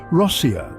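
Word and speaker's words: Россия: The natives of this vast nation call their country Rossia.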